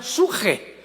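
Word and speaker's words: ψυχή: apuntarla, en el hebreo, es la palabra con P de Pedro, de Samuel, psuche, que en el hebreo se pronuncia suje, porque la CH se pronuncia en hebreo como J.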